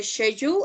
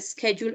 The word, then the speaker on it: schedule: So remember our classes, guys, are the schedule or the schedule, as you prefer the pronunciation, the schedule or schedule.